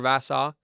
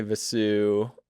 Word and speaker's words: Vassau: Vasau. Yeah, I'm pronouncing that right.